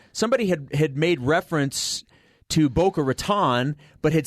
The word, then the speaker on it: Boca Raton: This is how the locals say it. And they say Boca Raton.